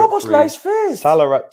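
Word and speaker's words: Szoboszlai: his name, you won't pronounce it, so you can. It's just Soboslai.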